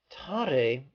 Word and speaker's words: Tare: Ta sounds like ta-ta. Re sounds like a sun ray. Tare is the name of one of many archetypes of enlightenment. Tare is considered a female